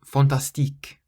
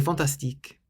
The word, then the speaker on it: fantastique: And fantastique, fantastique, so it's not fantastique, like we say in English, fantastic, it's fantastique. You stress the last syllable more than any other.